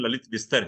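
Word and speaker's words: ललितविस्तर: Actually इसमें विस्तार लिखा हुआ है, लेकिन उसका जो सही प्रोनाउंसिएशन ललित विस्तर है।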